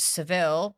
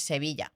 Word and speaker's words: Sevilla: In English, it's Seville, but in Spanish, it's Sevilla.